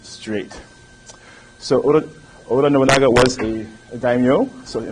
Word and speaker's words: Oda Nobunaga: The first is Oda Nobunaga. In Japanese, things are pretty much phonetic, so the way you see it is how you say it.